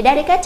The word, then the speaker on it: delicate: Thì delicate trọng âm rơi vào âm thứ nhất, còn lại các đáp án khác trọng âm rơi vào âm thứ 2.